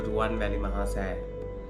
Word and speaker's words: Ruwanwelisaya: it is called the Ruwanwelisaya. Thank you. He can pronounce all these French words and everything, but he can't pronounce Ruwanwelisaya.